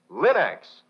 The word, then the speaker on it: Linx: cream polish and Linux self-polishing wax remember Linx is spelled l i n-x Linux so ask for these fine homemaking products now